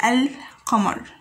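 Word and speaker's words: القمر: gone over it we can find that it is silent or or do you say el camar and commerce there is no stress on pronouncing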